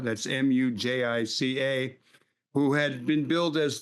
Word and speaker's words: Mujica: The former president of Uruguay, and I hope I can pronounce his name, Jose Mujica, that's Mujica, who had been billed as the poorest president, died at 89.